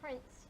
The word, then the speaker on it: Prince: My name is Prince, not I Price.